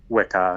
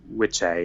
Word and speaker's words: Wicca: old root words are wicker and Wicca which has actually pronounced which a in which getting to into it look it up whicker's actually not the way it's really pronounced that being said it's